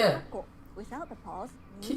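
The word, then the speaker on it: かっこ: Kakko, parenthesis. Kakko, かっこ、 kakko. かっこ、 Again, the pause needs to take one clap.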